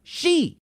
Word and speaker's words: Xi: Why does he use Roman numerals for 11 if his name is pronounced she? He is not President 11 and he doesn't use Roman numerals. His name is spelled X I and is pronounced she.